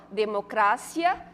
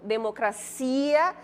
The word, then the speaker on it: democracia: Aqui, ó, democracia, demagogia. São duas palavras, né, que quando a gente pronuncia na língua portuguesa, como é que elas ficam? Democracia, demagogia. E em espanhol, como é que ficaria?